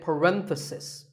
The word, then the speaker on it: parenthesis: If you talk about just one bracket, you say parenthesis. The stress is on ren.